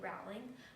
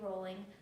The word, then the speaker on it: Rowling: to call her JK Rowling when the correct pronunciation is actually JK Rowling thus the nickname the rolling pin from the age of